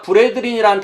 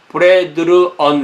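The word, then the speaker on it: brethren: 그러니까 B-R-E-T-H-R-E-N. 그래야만 발음이 브레드린이 되겠죠. 그렇지 않으면, 만약에 이거 바꾸면 브레드르언 이렇게 돼버려요.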